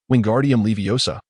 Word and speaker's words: Wingardium Leviosa: mindful of the pronunciation," Wingardium Leviosa with the gar pronounced long and clear.